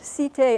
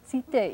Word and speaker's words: Cité: Cité, as in Île de la Cité, means something like city, which it's related to.